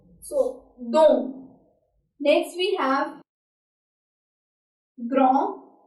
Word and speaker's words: grand: Next we have grand. Here D is silent.